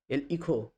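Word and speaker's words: hijo: হচ্ছে বাবা ঘরোয়া কথাতে পাপাও বলা হয় পাপা ইখই হচ্ছে স্প্যানিশ উচ্চারণে কিন্তু লাতিন আমেরিকার উচ্চারণেইহ হচ্ছে ছেলে বা সন্তান ইহা হচ্ছে মেয়ে বা কন্যাল এরমান এরমান মানে হচ্ছে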